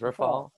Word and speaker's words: Rephoel: brad show and why i made the connection rafael wrote how do you say your name again you got it perfectly that was it we're following my name is rifal i did it right yep yeah this is